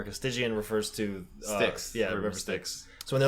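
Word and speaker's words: Styx: someone called the lady sticks spelled like the river sticks St YX or the band probably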